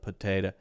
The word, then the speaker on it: potato: hear this one oh but here you do not hear po or P you hear like that that is the uh uh uh uh that I told you is the schw sound that the shwah sound so potato the shwah